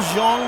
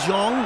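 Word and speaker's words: Xiong: That's gonna be Neil Zhong, the tight end out of Arkansas State. 27 years of age, 6'4", 263 pounds. I think that's how you pronounce that, X-I-O-N-G, Zhong.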